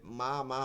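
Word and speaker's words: ميم: থাকে, শুকনো জায়গা থেকে, দুই ঠোঁটের শুকনো জায়গা থেকে মিম উচ্চারিত হয়, মিম উচ্চারিত হয়, মিম উচ্চারিত হয়।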